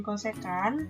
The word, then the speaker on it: cosecan: kemudian di sini ada CSC dibacanya dengan cosecan kemudian ada second set